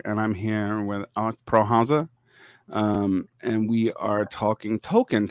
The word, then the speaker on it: Prähauser: You always say Prähauser, and it's very funny, but it's Prähauser. Prähauser, okay. That's right, the umlaut makes it closer to a short E sound in English.